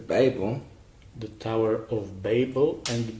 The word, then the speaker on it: Babel: You said basil. You said basil, didn't you? Maybe I mispronounced. What's Basil? The Tower of Basil. Okay, Babel.